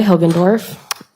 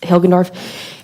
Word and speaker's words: Hilgendorf: and spell both okay my name is hilgendorf my first name is spelt and my last name is hilgendorf h-i-l-g-e-n-d-o-r-f how old are you i am